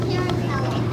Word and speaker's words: Tarantella: Am I pronouncing it right? No? Yes? What is it called? Tarantella.